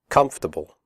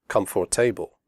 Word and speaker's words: comfortable: we say debt comfortable the word comfortable has three syllables not for the o.r is silent we say comfortable not comfortable comfortable clothes the final